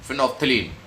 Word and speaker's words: phenolphthalein: One is the litmus, second is methyl orange, and third one is phenolphthalein. Its spelling is something else, but we pronounce it phenolphthalein.